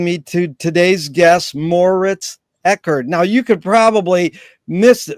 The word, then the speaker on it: Eggert: That's Moritz Egot.